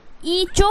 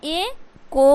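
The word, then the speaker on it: echo: हो जाएगा ओ से ओ तो क्या होगा इ चो हो जाएगा क्या हो जाएगा ई चो इसलिए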